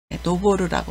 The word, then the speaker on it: 登る: 그리고 등산이라고 읽을 때는 짧게 읽어서 도장이라고 읽습니다. 훈독은 노보르입니다. 노보르라고 하고요.